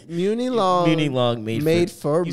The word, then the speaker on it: Muni Long: Muni Long made for me.